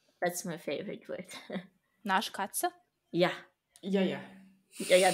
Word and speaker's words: Naschkatze: Actually, like, this is Naschkatze. Naschkatze.